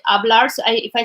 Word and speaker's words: hablar: I don't like know that the hablar like the H is not pronounced like hablar.